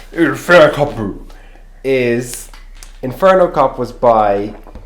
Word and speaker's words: Inferno Cop: you have to say it right. Inferno Cop. Kopu. Inferno Kopu is...